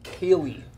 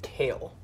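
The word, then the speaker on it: Kayle: working on the new cayley rework um it's kale it's pronounced kale like the vegetable like the vegetable that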